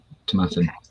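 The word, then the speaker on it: Tomatin: Yeah, Tomatan.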